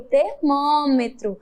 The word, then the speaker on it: termômetro: Observe que ele termina com a vogal O e tem o som de U, igualmente como o cavalo, que nós acabamos de ver. Termina com O, mas a pronúncia, a oralidade, o som é U no final.